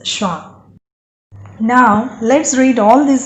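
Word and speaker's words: schwa: S, C, H, W, A, and its pronunciation is Shwa.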